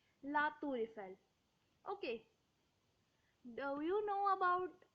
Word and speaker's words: La Tour Eiffel: So we will pronounce R and E together. That's why it is La Tour Eiffel, not La Tour and Eiffel.